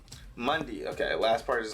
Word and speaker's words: Mundi: So far, all I have figured out is that the last part of his name is pronounced Mundi. Mundi.